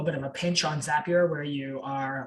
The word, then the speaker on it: Zapier: seen of this is zapier it's i think it's supposed to rhyme with happier um i think i